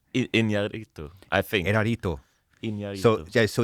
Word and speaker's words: Iñárritu: He has a last name, but I can't pronounce his last name. Iñárritu? Yes. Yeah. Erarito? Iñárritu, I think.